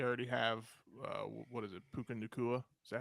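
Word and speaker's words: Puka Nacua: Um, they already have what is it, Puka Nakua? Is that how you say it? But yeah, Puka Nakua, who Tutu Atwell.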